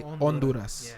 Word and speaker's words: Honduras: If you're trying to say it in Spanish, it's actually say Honduras. Honduras. So in in Spanish, you don't you you don't really pronounce the H.